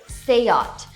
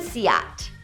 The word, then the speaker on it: SEAT: Seat? Like take a seat? No... it's say-ought. Not even See-aht!